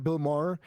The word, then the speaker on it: Maher: Bill Maher.